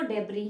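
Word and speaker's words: debris: यहाँ पे भले ही एक एस ऐड हो रखा हो, लेकिन यहाँ पे एस का प्रोनाउंसिएशन नहीं होता है, ठीक है, हम इसको डेब्री ही पढ़ते हैं।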